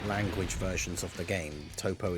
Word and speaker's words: Toppo: versions of the game toppo is still t oble p o so I don't know why you would pronounce that top very weird UI Goen